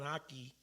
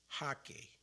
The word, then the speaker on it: jaque: So they pronounce it as G, the J, like a H, like Jesus. Hake mate.